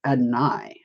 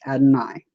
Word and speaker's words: Adonai: And he corrected me and he said it's Adonai. So if you want to know how to correctly pronounce it, it is Adonai.